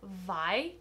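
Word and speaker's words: Viy: physical format yet is I think it's pronounced vi v i y by Nikolai gogel this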